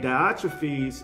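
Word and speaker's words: Diotrephes: then the second person is diotrophies and that's the english pronunciation of that and diotrophies is actually admonished condemned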